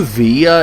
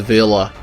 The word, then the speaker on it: villa: an alley or villa i know via is the actual spanish pronunciation but i feel like in english you're supposed to pronounce that word as a villa and contrary to proper